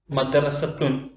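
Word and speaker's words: مدرسة: വലതുഭാഗത്തായി മദ്രസത്തുൻ എന്നതിലെ ഓരോ അക്ഷരത്തെയും നാം കൊടുത്തിട്ടുണ്ട്.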